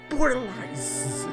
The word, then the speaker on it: Bordelais: The sauce here is Bordelais. It's French, I pronounced it correctly.